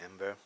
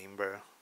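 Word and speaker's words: Æmber: that helps cavalry so there's been some debate on how that word is pronounced I just say amber some say amber others say amber this deck in particular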